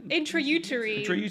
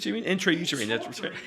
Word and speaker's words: Intrauterine: How do you pronounce it? Intrauterine. Intrauterine.